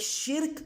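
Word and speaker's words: شِرْك: وضاحت کی ہے کہ شرک کے دو تلفظ ہیں، یعنی ادائیگی کے دو طریقے ہیں، ایک شرک اور دوسرا شارک.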